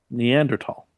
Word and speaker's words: Neanderthal: I don't believe that say that word again neanderthal is that how we're pronouncing it now yeah that's how it's pronounced